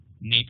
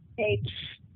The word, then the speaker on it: nape: Nape of the neck, or nap of the neck, or however that's pronounced. Nape.